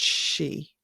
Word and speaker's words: Sidhe: So in, I suppose, Middle Irish it's s í d e it's all pronounced Sidhe as I'm saying it now, just s h e.